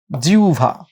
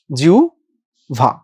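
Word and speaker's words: জিহ্বা: অন্যস্বর হইলে আমার হটা কি ও এর মত হবে নাকি উ এর মত হবে? নিঃসন্দেহে উ এর মত হবে। শব্দের উচ্চারণটা কেমন হইল? জিউভা। জিউভা।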